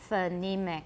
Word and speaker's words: phonemic: phonemic just like and i don't say phone either i use a schwa phenemic everyone's phonemic difference